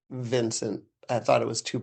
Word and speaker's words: Vince: Um, I don't think it was ever mispronounced except for once, and somebody was calling me Vence, like Vence. Okay. And I just said it's not Vence, it's Vince.